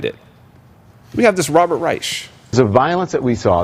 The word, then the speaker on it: Reich: Well, Professor Robert Reich, appropriately named, spelled like Reich, but he pronounces it Reich for obvious reasons.